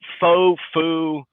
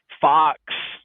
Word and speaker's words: Foux: So, you can call me Foux, Fox, Folks, or Fox, and it's all good.